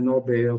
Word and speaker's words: Nobel: Primeiro, que a pronúncia correta é Nobel. Segundo, que é um oxítono terminado em L.